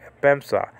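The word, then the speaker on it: ἔπεμψα: So epsilon with the soft breathing marker. So it's not he, like in the word hen, which means one, but it's e, like in the word n, a preposition.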